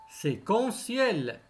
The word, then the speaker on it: séquentiel: courriel courriel séquentielle séquentiel mais attention le thé se prononcer séquentielle partiel partiel toujours le